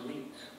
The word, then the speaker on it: night: And then the word night, it's a word with GH in the spelling, as in night. What used to be pronounced neat, okay, as if it was an E vowel.